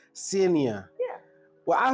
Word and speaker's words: Senia: Senia.